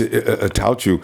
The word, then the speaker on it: Attaochu: What about this new guy we got, that pass rusher that I can't even pronounce the name of? Yeah, it's just Attaochu.